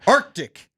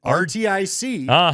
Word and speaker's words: RTIC: Arctic. Arctic. Arctic. Arctic. Arctic. I learned that because I saw a commercial this week that said it. I thought the same thing you did. RT IIC, but it's actually pronounced Arctic.